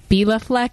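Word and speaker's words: Béla Fleck: Jazz y so uh that was great actually pronounced Bea Fleck and the f tones and I just saw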